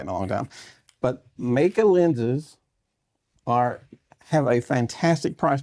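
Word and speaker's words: Meike: I learned that this company, spelled M-E-I-K-E, is pronounced Meika. So I wouldn't have got that right in a long time. But Meika lenses have a fantastic price point.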